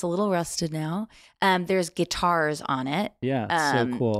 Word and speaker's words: Guittard: B, that it's different from it's that guitar other. Guitar with a D. Yes. Yeah. Guitar. Guitar. or if you're French, you don't pronounce the D.